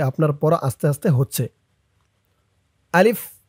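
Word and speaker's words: ح: আর এটা হা নুক্তা ছাড়া হার ভিতরে কোন নুক্তা নেই। হার আওয়াজটা গলার ভিতর থেকে চিকুন হয়ে বের হবে।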